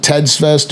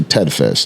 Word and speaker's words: Ted Fest: Do we pronounce it Ted's Fest or Ted Fest? Ted Fest.